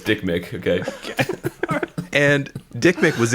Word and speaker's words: Dikmik: I think it's how you pronounced it. Is that one name or two names? It's one name, no space. Okay. Dikmik. Okay, it's Dick Mick.